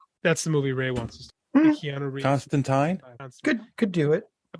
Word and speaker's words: Constantine: I believe the origin the original pronunciation was Constantine but then American so in America the emperor I don't believe anyone referred to the Emperor as Constantine I believe he's always been Constantine but I don't know